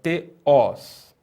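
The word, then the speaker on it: θεός: E no caso da palavra oxítona, é na última sílaba, né? Então nós temos, né, a primeira sílaba aqui, ó. Te, e a segunda sílaba, os. E o acento na última sílaba, teós.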